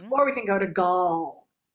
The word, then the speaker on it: Gal: But if you have a name like Gal, right, and the proper pronunciation is Gal, then like we have to figure out, is it apple or father?